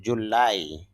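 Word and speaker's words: July: মানে এখানে স্ট্রেস হবে চাপ দিতে হবে তাহলে উচ্চারণটা হবে জুলাই বাংলা হিসেবে আপনি বলতে পারেন জুলাই জাম্প লাফানো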